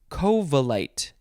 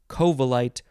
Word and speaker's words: covellite: episode it is covalete you can emphasize the first syllable covalite or you can emphasize the second syllable covalite spelled c-o-v-e uh or